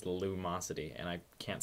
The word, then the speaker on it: Lumosity: correctly by the way it's not Luminosity it's Lumosity and I can't say